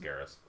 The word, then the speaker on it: Garrus: or is it brother garrus garrus garrus I'm not sure it only has one R so it's not like carrion but I first saw it I thought you know it's pronounced Garris all right box numero